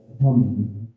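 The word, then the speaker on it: हं: मंत्र है वो है हम यानी कि हो हो से ह हो के ऊपर एक बिंद जब हम उसका उच्चारण करते हैं तो कहलाता है हम अंग्रेजी की बात करू तो एच ए एम हम एक बार मेरे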